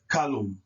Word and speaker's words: kalum: The L is pronounced on the left-hand side with the K and the A, and the L is pronounced on the right-hand side with the U and the M.